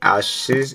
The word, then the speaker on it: Assise: And for this video right here, we're gonna be reacting to, or just basically watching, Tori Assise. That's her last name. That's how you say it.